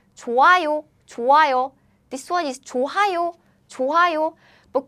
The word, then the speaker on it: 좋아요: We pronounce it like 좋아요. This one is 좋아요. But Korean sound is very weak, so when it's used as a 받침, is gone. The sound disappears because Korean sound is weak again.